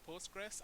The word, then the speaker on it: Postgres: I know people literally pronounce it Postgres, and I want us to say Postgre because it's like PostgreSQL.